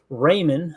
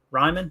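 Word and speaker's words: Raimann: We got Bernhard Raymond, I think is how you say the name, Indianapolis. Ryman, okay.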